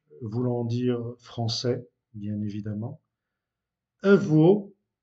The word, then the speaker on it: avô: Avô, remarquez que le O est fermé. Avô, avô, avec un accent circonflexe, veut dire grand-père.